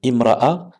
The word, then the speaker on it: امرأة: Vous avez la aou pour dire ou, et imra'a, donc ici ça commence par un hamzat al-wasl, donc on va pas le prononcer. Pourquoi? Parce qu'il est précédé d'un autre mot.